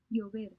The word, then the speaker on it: llover: Llover. Llover. So llover. Llover. Llover. So LL is replaced by an Y in terms of pronunciation.